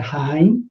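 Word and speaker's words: עין: A 10ª letra hebraica é Haim, pronúncia Haim, né? Não é Ain, não. Haim, né?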